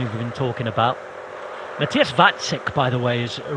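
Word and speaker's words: Vacek: other day because uh I thought it was that check but it is vatsik so thank you very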